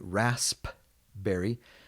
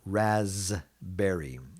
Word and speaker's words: raspberry: might want to say raspberry but if you look at the international phonetics here you'll see that it's pronounced usually more like razz berry raspberry the blackberry we